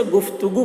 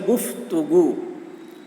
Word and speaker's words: گفتگو: ہیں۔ دیکھیے، گفتگو، گفتگو، اسے گفتگو پڑھتے ہیں، بہت سارے لوگ گفتگو بولتے ہیں، حالانکہ صحیح تلفظ ہے گفتگو۔ گفتگو یعنی بات چیت۔